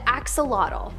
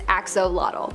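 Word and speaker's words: axolotl: spot, we have the axelottle. There is much speculation as to how to pronounce the name of this creature, but for the most part, most people believe that it is axolottle.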